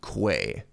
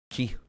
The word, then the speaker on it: Quay: what do you mean it's not pronounced Quay but it's spelled Quay like quail the birds aren't Keels yeah key like the energy that